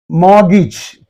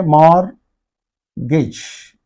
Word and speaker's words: mortgage: spelling pronunciation is more R is pronounced in American English Okay more Gage see this this is